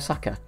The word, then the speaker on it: Saka: Here he is, Bukayo Saka. obviously rhymes with Dhaka.